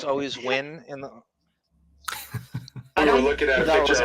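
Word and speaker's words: Nguyen: is younger than Chu how do you say it when just like when wi when win like just win wiin but it's okay but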